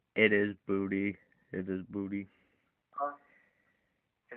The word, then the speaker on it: Boutte: And then you have another underrated receiver in Kayshon Boutte, or Boot. I can't pronounce his name. He has the most touchdowns on the team with 5. It is Boutte.